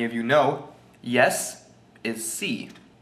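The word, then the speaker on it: sí: you know yes is C it's weird too because it's just it's just the letter c which people would think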